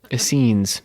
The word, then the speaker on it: Essenes: what do you think how's it spelled essenes like a no e scenes essenes okay the gnostics and